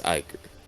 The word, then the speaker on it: Iker: It's supposed to sound like anchor, but it's Iker. It's like Anchor and Ichor had a kid.